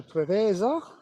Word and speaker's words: Preveza: A Jet 2 off to Preveza.